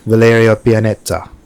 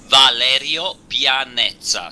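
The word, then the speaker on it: Valerio Pianeta: close when I say Valeria Pianeta oh you are uh almost uh so good uh your is a an English pronounce but the exact pronounce is Valerio paneta so it's uh almost very good and he he is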